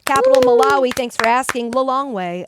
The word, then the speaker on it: Lilongwe: Lilongwe. At least that's how I pronounce it. I had that teed up to ask you. Well did? done. Oh, you did? The way I remember is I go, take Lilongwe home.